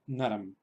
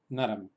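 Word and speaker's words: नरम्: Se pronunciaría naram, naram. Sería en realidad como escribir una terminación en M, naram. Sería en realidad como si escribiéramos N-A-R-A-M.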